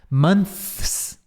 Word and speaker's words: months: falar assim muitos meses many months eles literalmente não pronunci o th aqui eles pronunciam assim ó com T mons mons como se fosse assim ó mon Mans